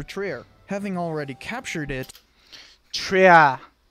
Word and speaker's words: Trier: Having already captured it, Trier is actually how you say it. Trier.